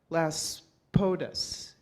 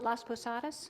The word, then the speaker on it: Las Posadas: in latin america called las podus am i saying it right las posadas las posadas las posadas and so